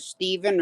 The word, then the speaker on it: Stephen: Well, does he pronounce it Steven or Stefan? Steven, but it's TH.